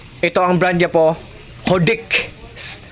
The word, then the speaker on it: Hodekt: Ito ang brand niya po, Hodik. Hodikit or Hodik. Sabi nila silent T daw to guys.